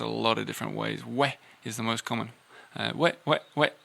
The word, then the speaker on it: oui: You can pronounce it a lot of different ways. We is the most common.